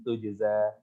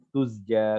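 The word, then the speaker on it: تُجْزَىٰ: Kadang-kadang kebalik ya. Karena Mang Jim sama Zai punya sifat yang sama ya, mirip-mirip. Mereka satu makhraj tapi beda sifat ya. Tapi hati-hati di sini Jim sukun kemudian Zai. Tujza.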